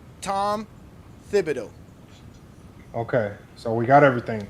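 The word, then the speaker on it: Thibodeau: His his his last name is spelled T H I B O D E A U. Tom Fibido.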